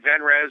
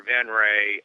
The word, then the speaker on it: Venrez: The website is, you can pronounce it Venrez or Venray. We don't mind either way. Actually, the name of the band is Venray.